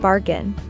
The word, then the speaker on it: bargain: We stress the first syllable in bargain.